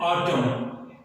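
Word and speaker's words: autumn: अगला वर्ड है ऑटम, ऑटम, इसकी सही प्रोनाउंसिएशन ऑटम है, ऑटम या कुछ ऐसा, अगर ऐसा आप प्रोनाउंस करते हैं तो गलत कर रहे हैं, इसकी सही प्रोनाउंसिएशन है ऑटम।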